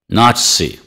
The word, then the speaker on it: Nazi: naught C naught C the stress is on the first syllable repeat after me Nazi Nazi neither neither nie the